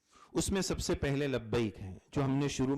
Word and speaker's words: لبیک: لبیک کا پروناؤنسیشن, اس کا تلفظ صحیح ہو. اس میں ایک بات اکثر ساتھی پڑھتے لبیک لبیک, دونوں کا فرق سمجھیے. ہمارے اکثر ساتھی گجرات کے خاص طور پر لبیک پڑھتے ہیں, گجراتی لکھاوٹ